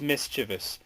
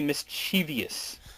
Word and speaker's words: mischievous: There's no There's no extra I. It is mischievous people. Some people say mischievous.